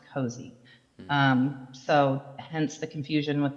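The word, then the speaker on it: Cozzi: And then also, Sunny does pronounce it the Cozy Market, even though it is pronounced C-O-Z-Z-I, it's pronounced Cozy.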